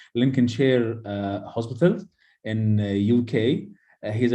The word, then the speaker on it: Lincolnshire: It should be pronounced like this: Lincolnshire Hospital in UK.